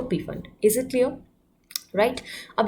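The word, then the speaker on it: Pfund: पीफन में जो पी होता है वो साइलेंट होता है, इट इज़ जस्ट फंड.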